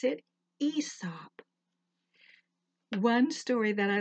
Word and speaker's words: Aesop: is spelled a esp-2 a silent so we pronounce it ESOP one story that I like to tell about